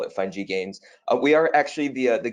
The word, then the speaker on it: FUN-GI Games: mentioned I am the founder and CEO of fine G gains I know she was pronouncing it funky that's totally cool um you know there's a